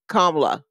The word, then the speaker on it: Kamala: and and that and really I think it's supposed to be only two syllables so like kamla oh but kamla will work because there is an MA in there and we are